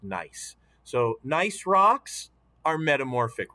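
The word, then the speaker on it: gneiss: nice rock it's it's pronounced nice even though it starts with a g it g-n-e-i-s-s is pronounced nice so nice rocks are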